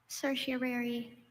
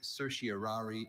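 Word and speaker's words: certiorari: Cersiary. Can I have the language origin please? This word passed to English from Latin. Cersiary. Are there any alternate pronunciations? There is cersiary. Cersiari and cerseri.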